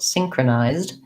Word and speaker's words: synchronized: but long short short synchronized the zed says the z sound and the d sound right together synchronization and synchronized great